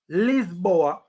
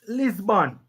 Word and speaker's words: Lisbon: the same dumb thing we are talking about lisboa in english is pronounced lisbon so english commentators call it lisbon benfica sporting